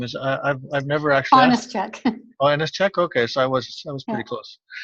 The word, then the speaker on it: Onyschuk: joined today with a friend of mine Karen honest check Karen how do you say your last name is I've never I finest - check okay so I was close yeah I think